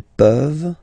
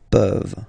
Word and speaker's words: peuvent: Tu peux, il peut, elle peut, nous pouvons, vous pouvez, ils peuvent, elles peuvent. Okay? As usual, this ending, this ENT ending, you write it, you don't pronounce it.